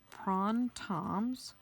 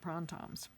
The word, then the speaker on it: Printemps: nice okay so again this is pron Tom's I never would have known how to spell that urge to pronounce that except at our zentangle class where I was certified as a teacher Maria told us that's how you pronounce it prawn times spiral stop pick up